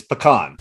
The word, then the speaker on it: pecan: robbins 31 flavors in order butternut pecan they're pronouncing it wrong pecan it's even it's an indigenous word from down in mississippi it's pecan everybody got that we have had debates in